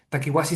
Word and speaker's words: Takiwasi: Eh Takiwasi se escribe conforme suena, pero con K y con W.